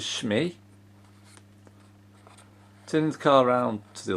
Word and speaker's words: Shmee: on the other side so it's sort of pronounces schmee turns car around to